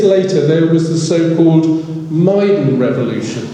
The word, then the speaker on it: Maidan: And 10 years later, there was the so-called Maidan Revolution. It looks like the word maiden, but I believe it's pronounced as in the name of Maidan, which simply means square.